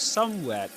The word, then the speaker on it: somewhere: He was somewhere. He was somewhere. There we go. He was somewhere. With a schwa, you pronounce that with a schwa.